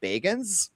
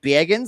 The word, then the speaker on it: Bagans: He actually pronounces his name Bagans. It's like Bagans, like a Midwestern mom.